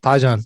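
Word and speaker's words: 파전: Yeah, pajeon. That's a good one too. Oh, yeah. You're pronouncing it well, man.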